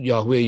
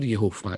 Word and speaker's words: Yehovah: Orang bingung, semua sebut Yahweh, Yahweh, Yahweh, Yahweh. Salah ya. Nama itu yang betul Yehovah. Itu ada aturan cara bacanya.